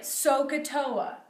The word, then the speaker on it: SOHCAHTOA: adjacent so here's a way to remember it sohcahtoa that's how you say it sohcahtoa sign opposite